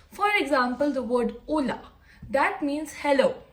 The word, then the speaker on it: hola: So hola, we say hola. We don't say the word H. We don't say hola, right? We say hola. So that's why H is silent in Spanish.